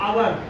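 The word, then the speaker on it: hour: ऐसे ही आपको आवर, एच ओ यू आर, आवर, एच ओ यू आर, आवर।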